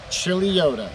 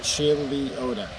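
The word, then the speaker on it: Chuluota: out in chileota florida chili yoda that's right i said it right chili oda there she is she's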